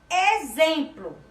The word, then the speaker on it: exemplo: Exemplo. Também escrito com X e com o som de Z.